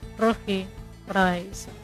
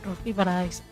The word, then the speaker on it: Roji Paradaiso: Anyways, my name is Roji Paradise. You pronounce it like that, like in Spanish. Roji Paradise.